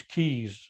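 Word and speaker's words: Qays: certain type of madness his original name was keys that's how you pronounce it q-a-y-s layla has also been translated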